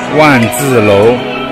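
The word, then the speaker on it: 卍: One is actually the swastika, and in China it pronounced one, means 10,000.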